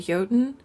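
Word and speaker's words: Jötunn: villagers say that the monster is a a yoten. Now it's spelled for listeners who want to follow along. It's spelled J O T U N. And the O has like an umla over it.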